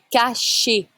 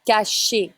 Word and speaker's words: cachet: Un cachet. Un cachet. You don't say the T. ET is E sound in French.